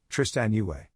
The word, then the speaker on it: Tristan Yue: That's how you say her name, Tristan Yue.